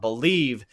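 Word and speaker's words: Bleav: so make sure you go check them out believe pronounce believe but spelled b-l-e-a-b and also a shout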